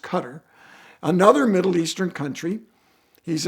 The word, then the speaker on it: Qatar: He is a prince from Qatar, or Qatar. I think it's actually pronounced Qatar.